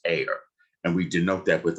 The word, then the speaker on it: are: called an error and that is a r e but it's pronounced air and we denote that